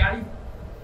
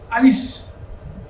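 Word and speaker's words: ألف: হাওয়া বার হবে সেটা বোঝার জন্য আলিশ কিন্তু আরেকটা উচ্চারণ সাধারণত মানুষ করে থাকে আরিফ এটা রং এই উচ্চারণটা হবে না তাই প্রিয় দর্শক একটু খেয়াল রাখুন আমার মুখের দিকে আলিফ আলিফ এমনভাবে যদি উচ্চারণ করা হয় তাহলে এই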